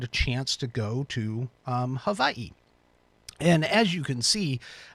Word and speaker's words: Hawaii: Sorry, let me pronounce that correctly. Hawaii.